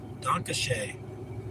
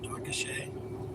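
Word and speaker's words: danke schön: Dankashe. I think that's how you say it. Dankashe.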